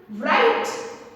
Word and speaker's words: write: What we pronounce? Right? No, right is a wrong pronunciation. Right pronunciation is right. So which letter is silent? W is silent.